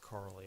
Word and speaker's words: Carly: It's pronounced Carly actually.